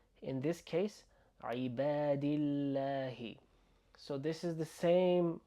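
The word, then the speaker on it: عباد الله: عبادillahi عبادillahi عبادillahi. السلام علينا وعلى عبادillahi عبادillahi. And we have that doubling L sound.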